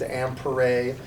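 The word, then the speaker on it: Ampère: But we want to honor this guy named Ampere, although we pronounce it ampere here in the United States.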